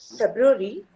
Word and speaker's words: February: How do you pronounce the month name? So it's February.